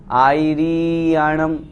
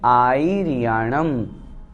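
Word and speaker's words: आयरियाणं: दूसरी गलती इसमें री को बड़ी भी कर देते हैं, आयर्याणं इस तरह से कर देते हैं, वो अशुद्ध हो जाता है।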